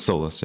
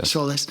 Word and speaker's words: Solis: So, um why don't you Sol is pronounced Solless, right? Solless. Solless.